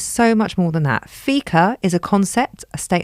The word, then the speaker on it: fika: of Modern Life clubbers than by engaging in fika is that how you say it you're engaged you're doing fika yes fika is often translated as a coffee